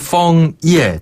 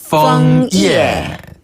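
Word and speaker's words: 枫叶: 이에 맞아네 찐네 어쨌든데 펑 이에 단풍은 펑 이에 약간 F 발음이 난다는 거 펑 이에 다시 한번 펑 이에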